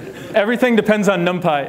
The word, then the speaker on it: NumPy: If you want to do fast numerics in Python, everything depends on NumPy. And yes, it's pronounced NumPy, not NumP. Everything depends on NumPy.